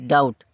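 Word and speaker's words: doubt: है डी ईटी ट यह पढ़ने में लगता है डाउट डपट क्या डपट लेकिन यहां पर बी जब बी जब सला हो जाता है तो ये क्या हो जाएगा डी ओ यू टी डाउट अगला देखते हैं हम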